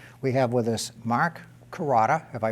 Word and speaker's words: Carota: I'm your host, and this evening we have with us Mark Carota, have I pronounced that correctly?